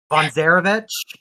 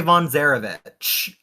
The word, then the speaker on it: von Zarovich: fell named Sergey Von I can't pronounce his last name I'm sorry guys Von zarovich is that how you do yes V Sergey Von zarovich he says he's the